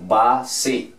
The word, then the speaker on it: base: sílabas, en este caso, base, la última termina en E. La E al final no suena. Y el sonido de su primera vocal va a ser como suena en inglés.